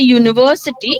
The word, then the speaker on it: university: So, when you say university, it has got sound of Y.